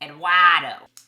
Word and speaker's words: Eduardo: Note to self, do not pronounce the R in Eduardo. Eduardo.